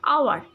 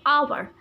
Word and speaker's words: hour: Boys, you can see again, we have got another mute H, hour. So I have skipped the letter H here and I have pronunciated the word like hour.